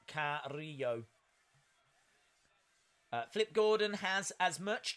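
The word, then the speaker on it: Carrillo: are well days correction Umberto's last name is pronounced care re yo flip gordon has as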